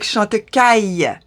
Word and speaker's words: Chantecaille: lot of brands, like Chantecaille. I know that the aïe is not a very easy sound for the non-French to pronounce, because they're not used to that sound.